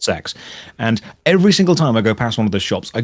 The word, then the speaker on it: CeX: shops in the UK we have a shop called CeX which is pronounced sex and every single time